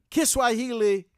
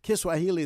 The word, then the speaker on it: Kiswahili: Kiswahili is not like that. Kiswahili is like Spanish. What you see is what you say.